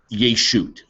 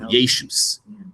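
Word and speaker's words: יֵשׁוּת: The word yeshut, so yeshus, in Ashkenazi pronunciation, this is, I want you to take this word and it's going to be part of your vocabulary.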